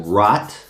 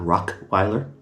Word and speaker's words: Rottweiler: I'm like, "It's Rottweiler." Say it with me, black people. Rottweiler. Rottweiler. Not Rockeiler.